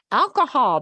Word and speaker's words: alcohol: And notice Alcohol. you've got two O's. So you kind of have to pronounce each O with no sound in the middle. That H goes away.